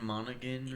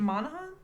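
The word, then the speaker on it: Monaghan: Cameron Monigan or something. Monahan. I always thought it was Monahan. I think I think that's a Irish pronunciation.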